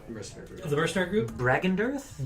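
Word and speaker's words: Bregan D'aerthe: Bragendirth? Bragen Dareth. How do you spell that?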